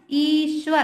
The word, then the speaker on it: ईश्वर: आधा श आता है ना, ईश्वर हम पूरा सा का उच्चारण करते हैं, है ना, परंतु हमें आधा श है तो हमें जल्दी से बोलना ईश्वर।